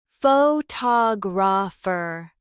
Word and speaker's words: photographer: But in the word photographer, the stress moves, photographer.